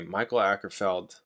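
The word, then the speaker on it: Mikael Åkerfeldt: thank you guys okay Michael ackerfeld that's how you pronounce his name instead of the album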